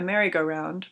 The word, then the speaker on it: merry-go-round: Last summer, a merry-go-round, pronounced with the accent on-go, set up in the vacant lot next to the combined mayor's office and jail.